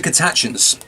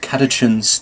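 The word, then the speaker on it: Catachan: others keep in mind these are cat actions or catechins depending on how you prefer to pronounce that which means that they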